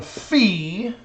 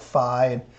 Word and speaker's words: phi: it looks like Phi some of the sororities and fraternities at the university actually call it Phi in math we like to make fun of them and say well you're actually saying it wrong it's fee it's more like fee fie foe fum so what angle fee